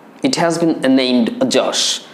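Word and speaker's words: Yaas: এটির নাম দেওয়া হয়েছে যশ। ইট হ্যাজ বিন নেমড যশ। এই যশ বানানে কিন্তু এখানে যে ওয়াইটা কিন্তু জ সাউন্ড উচ্চারণ হয়, যে কারণে ওয়াইটাকে দিয়ে আমরা জ সাউন্ড অর্থে ব্যবহার করতে পারি এখানে।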